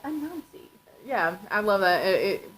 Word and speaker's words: Anansi: It's actually pronounced Anansi Boys, Anansi. I was like, Anansi, Anansi, and Ansi. Onsi. Until I heard the audiobook and they're like, Anansi.